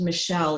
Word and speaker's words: Machaelle: michelle small right so her name is actually pronounced michelle even though it's spelled a little bit differently so michelle small right